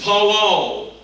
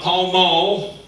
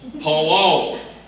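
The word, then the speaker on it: פלל: Palal. Not palmal. Palal.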